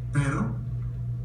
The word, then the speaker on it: pero: There is no R sound in Spanish like our sound. So within a word, again, let's pronounce this. Para. Para. Cara. Flora. And at the beginning of the word, it's also trilled as if it's a double R.